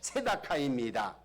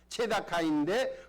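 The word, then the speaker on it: צְדָקָה: 공의라는 단어는요 히브리어로 체다카입니다. 체다카인데 부르짖음이라는 단어는 체아카가 됩니다. 여러분 비슷하잖아요. 두 단어는 의미는 다른데요 발음은 비슷합니다.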